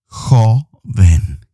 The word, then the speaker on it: joven: improve your pronunciation coven coven means young ho ben can you say comment